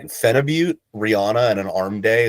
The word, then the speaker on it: phenibut: Actually, I think it's pronounced Phenibut, and I've been saying it wrong the whole time because it's like Russian.